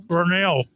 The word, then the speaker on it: Vernele's: So, how do you pronounce the cupcake place name? Vernele.